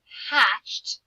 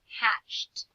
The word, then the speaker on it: hatched: Dinosaurs hatched from eggs. Hatched. What kind of ending do we hear there for ed? Hatched. It is making that same t sound like looked or stopped.